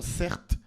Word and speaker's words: Certe: Moi, j'ai grandi en banlieu parisienne avec le prénom cert. Certes, ça s'écrit c E r t e.